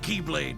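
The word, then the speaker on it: χ-blade: It's just pronounced like Keyblade, even though it's just one Keyblade.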